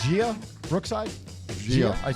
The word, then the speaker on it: Gia: Gia. I pronounced it right?